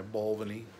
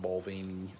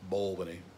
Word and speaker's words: Balvenie: lovely murder oh and my ball Vinnie and that's how you say it it's not balding its bowl-winning so yeah make it a